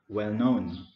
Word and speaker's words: well known: So the main stress is on known, well known.